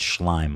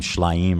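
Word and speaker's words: Shlaim: It's Schlime. Ai Schlime. He was calling him Schlime or something.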